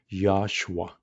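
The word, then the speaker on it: יהושע: In Hebrew pronunciation, it's more of Yahshua. English word is Joshua, but that Hebrew name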